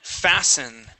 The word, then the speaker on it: fasten: Okay, now fasten. Okay, the T here is going to be silent.